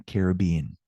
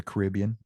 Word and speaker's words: Caribbean: Caribeño is literally specifying that somebody's from the Caribbean, okay? Or the Caribbean, potato, however you want to pronounce that.